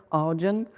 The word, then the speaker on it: Ardian: D'abord, il se prononce très bien en anglais, c'est un peu comme Guardian, Ardian.